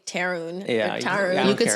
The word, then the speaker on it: Tarun: Yeah, because it's like, it's Tarun. I was like, it's Tarun, right? And then Iram's like, yeah, but you could say Tarun.